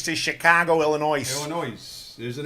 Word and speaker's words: Illinois: Like Illinois. I pronounce it Yep.